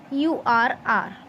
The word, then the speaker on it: hour: honest, honest, and r, hourr. Okay, now in these two words, children, make sure that when we are pronouncing it, जब हम इन words को बोलते हैं, honest, are, एच हमारा silent होता है.